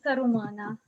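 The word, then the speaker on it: Sărut mâna: Sarut mana. Sarut, mâna. And many people will pronounce it simply sarumana. Yeah, don't spell it like this. This is just how people say it.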